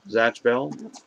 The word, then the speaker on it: Zatch Bell: How do you say that? Catch or Zatch? Zatch Bell? Zatch Bell.